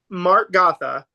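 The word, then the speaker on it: Mark Gatha: Mark Gotha. I think Yeah, that's how you pronounce his name.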